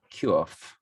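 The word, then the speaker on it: קוף: The Q in the Hebrew alphabet is pronounced Quf.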